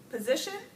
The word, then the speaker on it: position: Wichita Wichita first syllable position well we're going in order you can kind of figure it out of leading either for these right position position so we have it on the second syllable there and then lastly